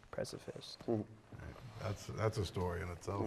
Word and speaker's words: Preciphist: It was already taken, so we made up a word basically, and just changed precipice to Preciphist. Preciphist.